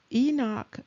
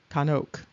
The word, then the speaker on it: Chanok: And so it's not enoch, it's kanuk.